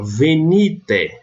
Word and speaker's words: venite: Aqui, nesse exemplo, eu coloquei aqui, ó, venite. Venite, por quê? Porque o ni é a sílaba tônica.